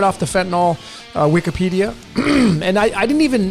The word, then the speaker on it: fentanyl: And I'm also going to be using the word fentanyl. It's a 3-syllable word.